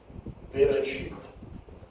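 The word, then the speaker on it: בראשית: So when you say it, it is be, re, sheet, bereshit, bereshit, bereshit.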